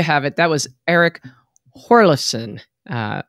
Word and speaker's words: Hjorleifson: it that was eric horlison uh i guess the j is silent actually he told me